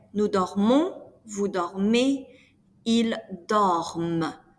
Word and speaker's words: dorment: Then, nous dormons, vous dormez, ils dorment. The ENT is mute, but what you are pronouncing is the M.